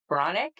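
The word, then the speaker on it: Breathnach: So it's pronounced bronic but it's breathnack.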